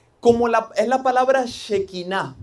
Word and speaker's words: shequiná: la es la palabra shequiná. Algunos le dicen shequina. Si alguien lo ha escuchado, pero lleva acento. Por eso yo le digo shequiná.